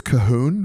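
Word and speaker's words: Colquhoun: It's "cu-hoon," but it's spelt C-O-L-Q-U, and you don't say the L, the Q, or the U, obviously.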